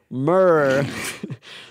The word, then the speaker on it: Murph: Murr, like first syllable in murder.